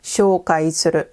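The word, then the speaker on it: 紹介する: This word is pronounced shoukai suru, to introduce.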